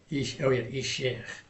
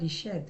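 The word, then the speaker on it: אישך: Isher. Ishech. Okay. See, you've corrected me twice. Oh, I have. This. Because you said Ished, right?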